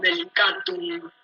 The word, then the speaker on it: delicatum: Yo digo delicatum, ¿sí? Entonces, la fuerza de pronunciación está en la A, si lo digo rápido,